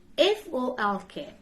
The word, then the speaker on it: folk: F-O-L-K. Is folk? No. Folk. Folk.